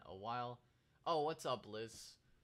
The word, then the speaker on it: Lis: Oh, what's up, Liz? It's pronounced Liz. Liz? Because it's L-I-S.